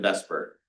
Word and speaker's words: VSEPR: Um, every every class I've ever taken just pronounces it in vesper.